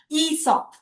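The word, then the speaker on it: Aesop: Esop.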